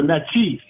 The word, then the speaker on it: Natchez: Naches, which is a different side. They call the Nachis. That's how you really pronounce it.